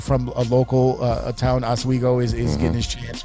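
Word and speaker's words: Oswego: that a kid from a local uh town as Wego is is getting his chance with a local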